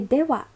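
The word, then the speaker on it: では: Sore dewa, be careful this is not ha, but sore dewa is well then. The ha here is used as a particle, that's why the pronunciation is wa.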